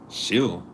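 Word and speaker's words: Schill: Shill. I I pronounced it like that because the s c h I'm thinking a school.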